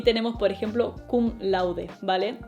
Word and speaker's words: cum laude: Y tenemos por ejemplo kum laude Vale y lo pronuncio así kum laude porque es latín y se pronuncia más a lo español que a lo inglés así que puedes ir kum lord kum lord c lo